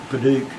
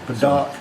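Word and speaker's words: padauk: Padak, whatever you say. Yeah, P-A-D-A-U-K, so I've been told it's pronounced Paduke, and everybody has a different pronunciation, so I don't know.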